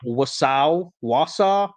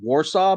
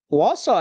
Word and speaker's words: Wausau: people or buildings in Wausau. I kept wanting to say Warsaw, but that's not how you pronounce that.